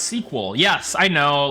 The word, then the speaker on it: SQL: Like I know it's pronounced sequel. I I I I I switch it up to keep everybody on their toes, you know. I like saying SQL though.